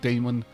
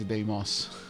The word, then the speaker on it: Deimos: It is not Damon, it is Deimos.